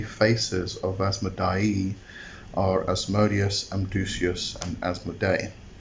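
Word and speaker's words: Asmodai: It's A-S-M-O-D-A-Y, which is Asmodee, and Asmodei is A-S-M-O-D-A-I. So I'm going to exaggerate the pronunciations a bit so you know what I'm talking about as we go.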